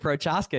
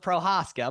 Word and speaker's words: Prochaska: We got the man, David Prochaska, here with us today. And I said it wrong. The C is silent, Prochaska, but you guys know him on the brand as Prochaska.